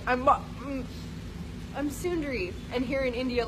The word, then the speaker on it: Sundari: spelled son da RI son dari but it's pronounced Sundari it's been like I'm up I'm Sundari and here in India a lot they're like